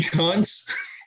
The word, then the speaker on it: Kuntz: He is pronounced like Coons.